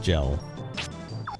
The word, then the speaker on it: Jell: Blood gel. Not jelly, just gel. That's spelled J-E-L-L.